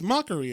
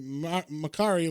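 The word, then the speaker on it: Makkari: I I was like oh it's mockery again and then I was like no it's supposed to be marari like Mercury so it's supposed to be like the god of speed or whatever so he's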